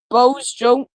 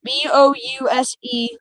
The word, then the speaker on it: Bouse: Locations impacted include Tologa, Sealing, Bose I don't know how you say it. It's Bouse Junction.